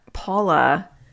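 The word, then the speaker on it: Pahla: But Paula, it's spelled actually P-A-H-L-A, Paula, and then literally the B, Paula B.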